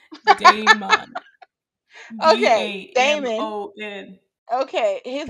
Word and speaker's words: Damon: Damien, his best friend. Did I still say it wrong? You said it right and then wrong. Damon.